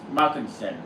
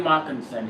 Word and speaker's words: Markinson: field of voices being played by Brian Mark Mockinson who's played multiple Starship characters on the Next Generation Deep Space 9 and Voyager. Yeah, Brian Markinson.